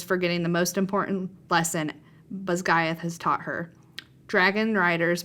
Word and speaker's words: Basgiath: Okay, I'm going to pronounce this correctly because I've been pronouncing it incorrectly. Basgiath War College, Violet included.